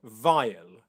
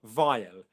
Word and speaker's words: vile: So the way to pronounce vile, one is to make sure you've got a nice V sound.